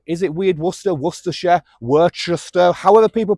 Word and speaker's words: Worcester: Is it Weird Worcester, Worcestershire, Worcester, however people pronounce it? I just pronounce it Worcester like the sauce anyway.